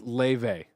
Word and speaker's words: Laufey: Joey Noel says Laufey. Laufey. That's how you pronounce this.